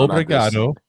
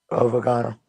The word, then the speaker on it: Obrigado: Obrigado. Got to repeat it. Obrigado.